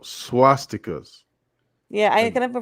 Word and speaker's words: swastikas: I'm gonna call it swatiskas. No, Swatiskas. no, swastikas.